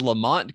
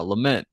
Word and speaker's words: lament: Hendrickson's house but one one woman says Lamont configuration huh just mispronounced because I remember like back in the day that family was like the lamonts weren't they but but we've changed it now lament configuration like that's not the same thing who's the lamonts